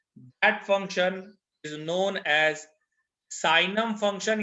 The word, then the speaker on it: signum: अब हमारा जो अगला फंक्शन होगा, that function is known as साइनम function या सिग्नम फंक्शन, जो आप कहना चाहें, लोग उसको जी साइलेंट रखकर बोलते हैं, साइनम फंक्शन।